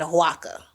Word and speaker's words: Oaxaca: I think it's Oaxaca. How you say it correctly.